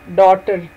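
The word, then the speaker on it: daughter: डॉटर, डी ए यू जी एच टी ई आर, डॉटर। डॉटर में भी जी और H silent.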